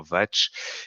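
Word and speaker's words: vāc: Ce mot est une écriture vient du sanskrit, se prononce théoriquement vatch et signifie parole, verbe, donc voilà, ça la petite aparté.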